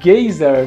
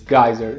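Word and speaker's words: geyser: viu que a energia gayzer na verdade ele pronuncia errado a pronúncia certa dessa palavra que é dizer em inglês gaiser mas ele fala gayzer e gás é nada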